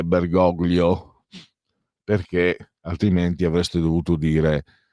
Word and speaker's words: Bergoglio: essendo italiano bensì argentino, la pronuncia è in lingua ispanica, castigliana, e quindi è Bergoglio, perché altrimenti avreste dovuto dire Platini invece di Platini, come tutti quanti abbiamo appellato Michel Leroy.